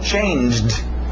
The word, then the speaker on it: changed: Passado regular, som de D no final. Changed.